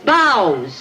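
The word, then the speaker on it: bough: Bas right in there that's bows b o u g h is bow right bow he spent his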